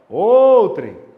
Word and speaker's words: outrem: indefinido o pronome outrem qual que é a sílaba mais forte de outrem me chama lá fora outrem não é a penúltima então a paroxítona a